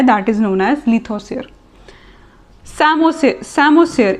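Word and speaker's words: psammosere: सैमोसियर, इसमें P silent होता है.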